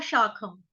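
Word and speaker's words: अधःशाखम्: ऊर्ध्वमूलमधशाखम, ख खरगोश वाला। इसको कई बार गलती से क पढ़ लेते हैं, क, कबूतर वाला क नहीं है, ख खरगोश वाला, ठीक है। शाखम, शाखम, आ की मात्रा,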